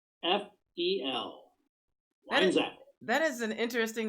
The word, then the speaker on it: Weinzapfel: And it's spelled like it sounds, believe it or not. WEINZAPFEL.